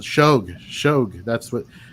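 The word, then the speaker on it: Shough: It's shog.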